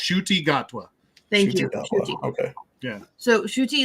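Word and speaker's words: Ncuti Gatwa: split his dress shirt is now on um inti gatwa thank you shuy is actually I believe the way it's pronounced we actually looked it up it's it's pronounced shuy gatwa thank okay yeah so shuchi is actually wearing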